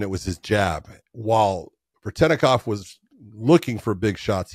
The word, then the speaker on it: Veretennikov: Veretennikov.